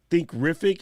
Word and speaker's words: Thinkific: So where I'm from Essex, which is like southeast of England, and we drop the THs. The way I pronounce them like a T, like a hard F.